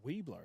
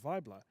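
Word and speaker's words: Wiebler: Well, we thought it was Weebler. It's w i e b l e r. And she said it's like a German pronunciation like vibra but but v. Yeah. Vibler.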